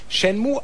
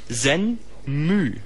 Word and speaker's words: Shenmue: US-Dollar das seinerzeit teuerste Videospiel aller Zeiten war, Shenmue ausgesprochen wird.